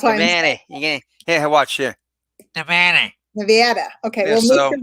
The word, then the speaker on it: Nevada: Nevada? Actually, it's funny. If you're from New York, you say Nevada. And out here, once you cross the Mississippi, it's Nevada. Nevada. That's why Nevada. Here, watch here. Nevada.